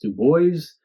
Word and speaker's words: Dubois: His body was found in a field a couple miles outside of Dubois, Illinois, which is undoubtedly pronounced Dubois, D-U-B-O-I-S, by a farmer named Joe Waldman.